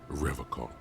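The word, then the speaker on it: Revachol: He pronounces Revocol with a hard K, unlike other people. You said Revocol? I like to pronounce it the hard way. The old way. The Vespertine way.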